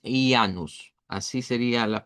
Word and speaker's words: Ianus: a un dios que si lo pronunciamos originalmente es ianus. Así sería la pronunciación. En español se puede decir como hanus por el sonido de la jambia, pero originalmente es ianus.